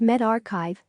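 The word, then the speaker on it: medRxiv: the preprint server focused on medicine Meldrick SIV pronounced med archive launched nearly a year ago dot bu t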